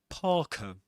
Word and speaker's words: parka: If the letter R is immediately followed by a consonant sound or silence or a pause, you don't pronounce the R sound.